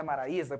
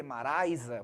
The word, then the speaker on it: Maraisa: o povo fala maraisa mas não é Maraísa porque se fosse maraisa teria que ter o assento do hiato Então nós não temos assento e você vir que não tem um acento então não posso falar maraisa tem que ser o que maraisa porque ali nós temos um ditongo Mas enfim né enfim